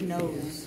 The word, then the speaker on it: nose: Yeah, you got the silent E at the end. Very good. Yeah, so there's one silent E that goes at the very end. It's a magic E. Yeah, so it makes the vowel, like the O, sound like how we say it.